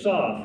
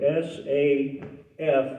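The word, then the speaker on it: סף: That is a saf in the Hebrew, S-A-F, as far as phonetics goes. I can't spell it in Hebrew, but it's saf.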